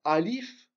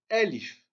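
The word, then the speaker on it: ألف: en dessous chaque lettre c'est pas alif comme certains vi prononcé ou bien elif à et accent aigu non c'est à et accent grave l ihf donc répétez après moi l ihf voilà donc c'est un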